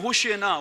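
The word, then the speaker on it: הושיעה נא: 히브리어는 호시에나라고 발음할 거예요.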